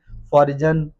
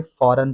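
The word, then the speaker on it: foreign: like फॉरेन word है इसमें भी जी साइलेंट है क्योंकि एन से पहले जी आ रहा है इसे फॉरजन नहीं पढ़ेंगे फॉरेन पढ़ेंगे नेक्स्ट वर्ड है हमारे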